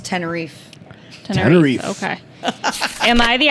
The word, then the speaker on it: Tenerife: Also, Alana, it's pronounced Tenerife.